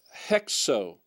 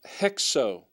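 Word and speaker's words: ἕξω: your book will have have the rough breathing mark and it should be pronounced hexo you have the ex letter there that's hexo hexo all right and that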